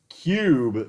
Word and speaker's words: Cyube: It's called Cube VR, but Cube is spelled Cyube.